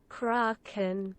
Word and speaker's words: Kraken: following best describes the I think you pronounce that as cry kin cry kin but let's just double check we often use pronunciations here just to help us Kraken Kraken okay there we go so